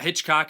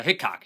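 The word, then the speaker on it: Hickox: The director is Anthony Hitchcock, or Hitchcock, it's not Hitchcock, it's Hickok. Hickok. I always mispronounce his last name.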